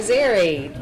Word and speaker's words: Zerry: So Zerry rhymes with Larry, come on up.